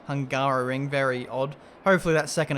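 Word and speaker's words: Hungaroring: the last race in the hungarian ring and we're going to do that again today is pronounced hungaro ring very odd hopefully that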